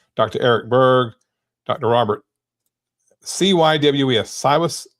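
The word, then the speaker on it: Cywes: Cywus. How do you say that? Brian Cy Cyus.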